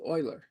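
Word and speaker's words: Euler: name is spelled e l r and is pronounced Oiler so Oilers solution to this problem is the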